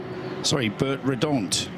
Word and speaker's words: Bert Redant: We were chatting to them yesterday in the bar, and Bert Redant, to give it the Belgian pronunciation, the team principal and man behind Red Ant Racing.